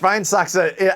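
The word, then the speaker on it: Schweinshaxe: I pronounced Schweinsachse absolutely correct.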